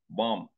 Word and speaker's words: bomb: No, it is pronounced bomb. That B is silent.